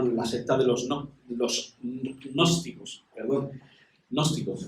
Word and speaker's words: gnósticos: secta de los gnósticos, gnósticos, empieza por G, pero bueno, no pronunciaremos la G, que es muy difícil.